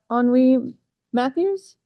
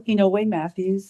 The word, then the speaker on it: Oniwe-Matthews: Thank you very much on Matthews. Sorry if I mispronounced Hello, my name is Carol Hinoi Matthews and I live in Vancouver.